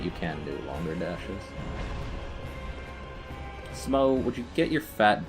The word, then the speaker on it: Smough: that smo is pronounced smo I know that's that much is correct but I don't know